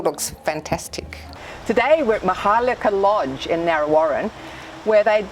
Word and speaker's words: Maharlika: And Maharlika means what?